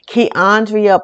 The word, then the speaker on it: Keandria: For those of you all who do not, my name is Keandria. I go by the name of because most people can't pronounce the I before the A, and I'm very funny about that.